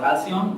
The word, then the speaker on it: Halcyon: I named it Halcyon. That's how you pronounce it, and the more details are actually on the website.